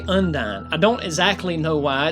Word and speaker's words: Undine: with it mentally, and I can't seem to escape Undine, though it is probably more common to pronounce it Undine, which at least is how Audrey Hepburn pronounced it in the 50s.